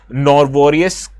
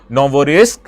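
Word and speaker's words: Novorossiysk: the Black Sea region known as Norvarisk Novorisk. Sorry I I actually pronounced the name of this particular port. It is Novorisk and Sochi.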